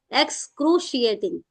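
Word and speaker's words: excruciating: जगह पे आप ये एक्स एक्सक्रोशिएटिंग में जो स है वो स है सिंपल वाला एक्स एक्सक्रिएटिंग एक्सक्रिएटिंग आई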